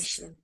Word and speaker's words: patient: patience, Patient.